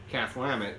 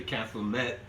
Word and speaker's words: Klamath: staying at the time we'd say cath lambet and then they would pronounce it wrong and say kathleen met or something or say what the hell are you talking about or kalama klamath falls you know cath lambet like goddammit cath lambet god damn it castle